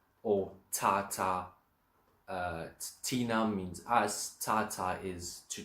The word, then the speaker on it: thina: T and a H is t. It always stays a hard T. So Tina or Tata. Tina means us, Tata is